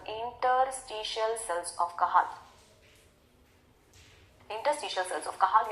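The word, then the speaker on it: Cajal: द इंटरस्टिशल sales of कहल इंटरस्टिशल sales of कल याद रखना हम इसको जे प्रोनाउंस नहीं करते एक स्पैनिश नेम है साइंटिस्ट का इसलिए हम कल बोलते हैं अब मजे की बात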